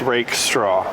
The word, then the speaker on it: Rakestraw: Rakestraw. Rakestraw. Just like you're raking straw.